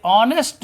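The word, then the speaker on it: honest: और ऐसे ऑनेस्ट मैन लिखा तो हानेस्ट मैन है लेकिन यच साइलेंट हो जाता है तो बड़ा आ का ध्वनि यहाँ आता है ऑनेस्ट मैन, तो एन लगा देंगे।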